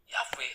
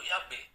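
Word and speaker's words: Yahweh: jadi ya yhwh itu sebelumnya diucapkan fonetik atau bunyinya yave atau Yabe Nah itu terkonfirmasi ada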